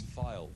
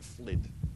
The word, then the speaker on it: Poulton-le-Fylde: It's file, actually. I always pronounce that wrong. I always call it Flid.